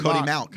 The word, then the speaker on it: Mauch: kid up there, Cody Mauch. Mauch, yeah. I think it's Malk. I had a North Dakota State Bison fan reach out to me and said I was pronouncing it wrong.